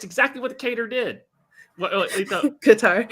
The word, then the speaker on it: Qatar: Qatar. Qatar. It's catering Qatar. I am not mispronouncing it. That's how it's pronounced. And if you watch one station, it's pronounced Qatar. If you watch another place, or Qatar. Like I'm not mispronouncing it. It's pronounced 3 different ways.